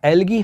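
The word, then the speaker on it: algae: होते हैं, जिन्हें हम एल्गी कहते हैं। प्रोनाउंस क्या करा जाता है, एल्गी, बड़ी ई का साउंड प्रोनाउंस किया जाता है, स्पेलिंग भले ही ए हो।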